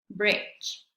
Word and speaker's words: bridge: ¿Cuándo no se pronuncia la letra D en estas palabras? Vamos a ver cómo se pronuncian correctamente. Batch, batch, bridge, bridge, budget, budget, edge, edge, fridge, fridge.